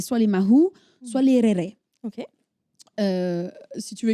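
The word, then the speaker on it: raerae: on les appelait soit les Mahou, soit les Réré. OK. Euh si tu veux écrire, ça s'écrit R A E R A E et Mahou M a h U.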